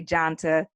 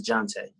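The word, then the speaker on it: Johntá: right some people say jonte some people say janta uh i've i've heard him uh produced and introduced himself as jonte so i believe but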